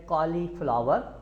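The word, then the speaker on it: cauliflower: और ये स्पेलिंग में आप देख रहे हैं, ये है कॉलीफ्लावर, जबकि इसका सही तलफ़्फ़ुज़ है कॉलीफ्लावा, यानी फ्लावा करना है, आर आपने बाद में नहीं बोलना है, कॉलीफ्लावा, कॉलीफ्लावा, ठीक है।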